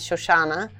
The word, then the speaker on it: Shoshana: My full name is Shoshana, like Susana. If you're Spanish, Susana, Shoshana.